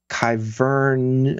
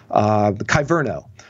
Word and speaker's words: Kyverno: recently was talking about um kyvern i'm going to mispronounce it now kyverno another policy engine for